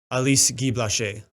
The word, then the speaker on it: Alice Guy-Blaché: Actually, I allegedly have been pronouncing this wrong, if you're gonna pronounce it all French, which it should be because she is French. Alice Guy-Blaché.